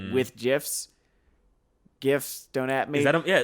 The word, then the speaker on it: GIF: I'm wondering if the creation of GIFs or the creation of GIF fodder, we're gonna lose a whole lot of fucking respect from idiots here, because I'm never gonna not pronounce it with a soft J, because it's just like,